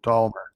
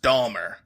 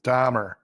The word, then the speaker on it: Dahmer: an l in there dolmer jeffrey palmer no the real killer that got the serial killer his name spelled with an h not an l but it's pronounced dahmer no it's dahmer yes dahmer that's how